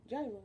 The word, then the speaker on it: gyro: Gyro. Gyro is how we say it in America. Gyro. Anybody out there that's Greek, teach us the right way to say that. And tzatziki sauce is tzatziki sauce.